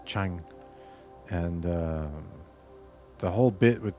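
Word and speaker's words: Tchang: Um, so in French, you pronounce it Chang, and the whole bit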